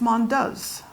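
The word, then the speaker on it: Mondeuse: that grape hmm and in France its Mon does mom does he us is is us so it's you have to stick your jaw out so it's one does but it's very hard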